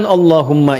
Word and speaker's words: Allahumma: Maka adabnya ketika diucapkan Allahumma itu jangan meninggi.